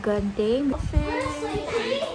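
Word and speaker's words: Genting: but apparently there's different pronunciation and the actual pronunciation is actually called gunting after like about 30 minutes of brething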